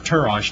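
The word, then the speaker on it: תירוש: And new wine was called triash, or tirosh, T-I-R-O-S-H is the way it's pronounced. Both contain alcohol.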